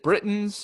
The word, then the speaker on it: Britons: and and fight the brave warriors that the britons were is it britain's or br br uh it's pronounced what it is i just said britons